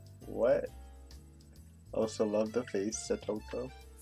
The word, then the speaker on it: Satoko: Also love the face, Satoko. They kept getting used to saying her name correctly, not Sadako, which is how I pronounced it the whole first chapter.